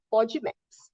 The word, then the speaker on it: FODMAP: Junto com a do glúten, tem essa dieta, o nome é terrível, tá, gente? Mas é assim que pronuncia. Não estou falando obscenidades aqui, que é a dieta FODMAPs, tá? É assim que ela se chama, não é food, é FODMAPs.